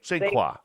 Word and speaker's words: St. Croix: Do you go American or French? It's Croix. So St. It's Croix. Croix. St. Croix.